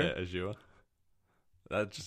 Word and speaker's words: Azure: Oh, Azure? Yeah, Azure.